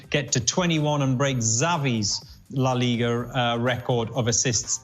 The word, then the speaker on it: Xavi: for em and says your pronunciation of Xavi is wrong I do say Xavi obviously it's a shovey if you want to get it absolutely correct but hey you know